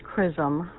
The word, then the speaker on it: CRISM: A unique capability of X-ray spect spectroscopy XRSM's oh I'm sorry it's pronounced crism my mistake.